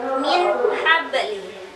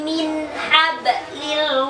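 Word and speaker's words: من حبل: Jadi cara membacanya bukan min habli. Jangan didengungkan, tidak boleh lama. Bukan min habli atau diputus min habli, salah. Yang benar min habli, min habli, seperti itu.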